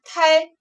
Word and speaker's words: 胎: 接下来这个字读作胎，组词胚胎或者是胎儿。